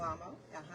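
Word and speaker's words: Sylvamo: Silvamo.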